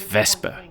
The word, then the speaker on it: Wespe: first the name of this vehicle the correct pronunciation is veser but it's just too similar sounding to the